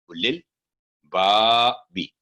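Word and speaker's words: أولي الألباب: लिल, उलिल बाबी, उलिल बाबी, यहाँ भी वाव साइलेंट है, रेड कलर में देख रहे हैं, कोई साइन नहीं। उलू नहीं होगा।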